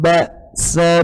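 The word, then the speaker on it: بأس: Hati-hati, Ba...Ba...kita harus mengartikulasikannya dengan jelas, tidak boleh pelan. Ba, ba's . Yang kedua lembut karena 'ain. Jadi pasti ada perbedaan yang jelas. Ba, ba, sa. Buruk. Ba. Ba. Akhiri dengan makhrajnya. Ba, seperti itu.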